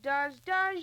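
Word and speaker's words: Duz: Oh, does your wash with the greatest of ease. It's a new kind of soap, and it's spelled D-U-Z.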